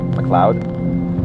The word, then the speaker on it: MacLeod: in a moment is uh by Kevin ma McLoud M mlod that's uh a is spelled ma l e o d uh you